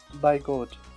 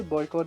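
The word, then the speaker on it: boycott: ठीक है, आप इसे बॉयकॉट भी प्रोनाउंस कर सकते हैं, इट्स अप टू you, right. There is no need to be bother that how to pronounce, you कैन यूज एनी of them.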